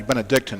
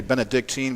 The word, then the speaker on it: Benedictine: went throughout the years a lot of people mispronounce the school including myself and it's actually Benedictine right yeah yeah and I make that mistake too you know that I catch myself but I tend to say Benedictine but that's not really